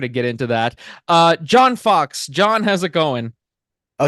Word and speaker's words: Fawkes: John Fawkes. It's pronounced Fox, but it's spelled differently.